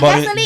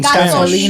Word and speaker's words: Gasolina: No, not gasoline. But it's in Gasolina. Spanish. It's in Spanish. Say it right.